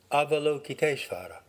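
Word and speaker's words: Avalokiteśvara: would be an approximate american english pronunciation avalokitesvara the name combines the verbal prefix ava down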